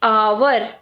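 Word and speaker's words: hour: बोल रहे हैं, जैसे आवर, ऑनेस्ट, ऑनरेबल। अब कैसे बेटा? देखिए, आवर, आवर में हम हावर नहीं बोल रहे, एच साइलेंट होता है, तो हमको क्या सुनाई दे रहा है?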